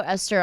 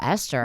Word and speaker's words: Esther: know how to spell Esther whoo that's not you on you that's because there's a silent H in my name yeah that's that's like